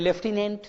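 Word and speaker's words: lieutenant: या कभी कभी क्या होता है, लिखते तो कोलोनल हैं बोलते, आप जानते हो, लिखते तो ल्यूटेनेंट बोलते हैं, लेफ्टिनेंट, ऐसा लोग है।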